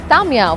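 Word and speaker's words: Ta'miya: full which is beans tamya which is falafel also rhymes with my name Kamya and there's also lab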